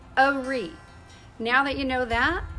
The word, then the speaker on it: Horry: First of all, in Myrtle Beach and the surrounding areas, the county is pronounced Horry, not Horry. If you're a native, it's Horry.